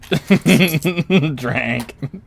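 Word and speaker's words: Dranc: I heard what I thought of Drake was D-R-A-N-C, is spelled D-R-A-N-C. Drank.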